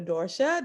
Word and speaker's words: Dorsha: hello everyone i am meeting with dr dorsha james also known as dr dorsha did i pronounce your name correctly you did pronounce it